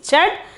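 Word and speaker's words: चढ़: 19th one is chat 19th one is chad chad means climb pronunciation is chat meaning is climb meaning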